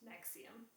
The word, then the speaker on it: NXIVM: Uh and this week we are going to look at the rise of Nexium and Nexium is spelled NX IVM but pronounced Nexium.